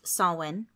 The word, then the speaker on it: Samhain: Scotland in Ireland and everything their holiday of Sawin which again is spelled looking like Samhain si ma che I n but pronounced saw one started off the whole thing and then they